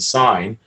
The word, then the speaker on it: sign: the word sin because you take out the g and sign because you don't pronounce g it's a silent letter to make you wake